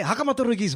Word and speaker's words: Haka Matorokosi: So when you released Haka, Matorokosi, Hey. that's how you pronounce it, ne?